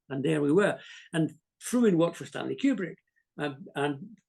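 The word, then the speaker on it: Frewin: he was one we talked Anthony fruin it's pronounced fruin fruin Anthony fruin he was one of my he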